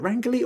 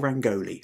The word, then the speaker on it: rangoli: And Viji says, "So the peacock uh rangi is it rangali or rangoli?" I'm tempted to say rangoli, but I seem to